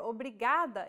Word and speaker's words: obrigada: you say obrigado if you're a male or obrigada if you're a female obrigado obrigada keep repeating after ana until you get it your turn obrigado obrigada obrigado obrigada do you remember how we talked